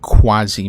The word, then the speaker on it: quasi: So what does anybody know what quasi means? Is that an actual English word? Can we, like, is that a physical word? U-A-S-I. Quasi. It is. Quasi. Oh, quasi is how you say it.